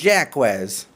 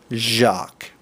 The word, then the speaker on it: Jacques: jacques it looks like jaquez but you're not going to say jaquez because it's a french name and the french language is kinda weird so this is gonna be pronounced jacques okay okay a deep